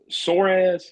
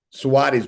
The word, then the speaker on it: Soares: So it almost is spelled like it almost is pronounced like it's spelled Suarez, but it's spelled Soares.